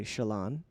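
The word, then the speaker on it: Shallan: but I still I I was really drawn to Shon yes or as the audio listeners will say Shalon thank you Shalon there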